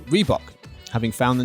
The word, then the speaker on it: Reebok: afrikaans for the grey redbock r-h-e-b-o-k definitely said it wrong so there's the spelling which is a type of african antelope is reebok big over here paul